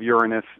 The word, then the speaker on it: Uranus: know I guess uh Uranus sounds a little bit less SC logical or something but that's what most people in the in the planetary astronomy Community pronounce it you know most people say Uranus and most people laugh